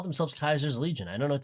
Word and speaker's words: Caesar: The They call themselves Kaiser's Legion. I don't know what to tell you. They don't go around saying Caesar. I was just saying it's not necessarily the correct pronunciation.